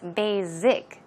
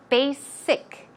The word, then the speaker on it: basic: that many people a number of people actually pronounce that word as basic z z sound that is incorrect try to pronounce it with a SS s s a thick s sound so it's basic basic one more time basic it's not basic